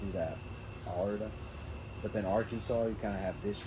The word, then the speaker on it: Arkansas: No, yeah, I don't know why the fuck they named it like that, but it's pronounced Arkansas.